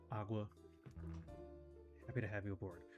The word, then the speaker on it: OGW: It's pronounced Agua.